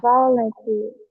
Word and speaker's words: volunteer: volunteer i'll show Volunteer volunteer volunteer here. Volunteer volunteer one and two one and three volunteer. Okay. And the first and third. Yeah. First and third syllable.